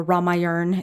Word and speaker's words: Ramayana: great hindu epic the ramayana ramayana is how it's pronounced um so he he